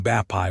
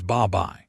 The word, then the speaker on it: 밥이: Instead of saying bapai with a hard stop, Koreans slide the B over into the second syllable, and it comes out as babai.